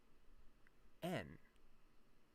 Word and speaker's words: 円: It's interesting because in English we call it yen, but in Japanese it's actually just en.